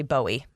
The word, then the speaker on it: Bowie: there's your fun fact i like bowie i love the name it's just like buoy you know nice single syllable boom there it is you know people aren't from here if they say bowie bowie maryland yes yeah